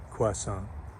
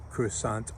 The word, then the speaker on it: croissant: Hi, it's Chef Mike Panja, and today we're going to make croissant, or croissants. There's a dispute going on already about the pronunciation. Croissant is the French pronunciation, which I prefer for two reasons.